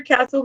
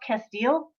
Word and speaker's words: castile: um simple truth pure castle lavender gently cleanses body face hair pets and home i think isn't it pronounced castile pure castile soap what did i say